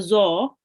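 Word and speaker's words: ظ: This is a dod or a zo. Make sure to pronounce it as a zo.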